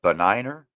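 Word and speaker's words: benign: How do you, I think it's with the silent G, but beniner? It's a beniner. Gotcha. You don't pronounce. Yeah, you don't pronounce the G.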